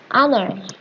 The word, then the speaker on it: honor: The first letter of the word honor, for example, is a consonant, but it's unpronounced. Instead of its spelling, the word honor begins with a vowel sound.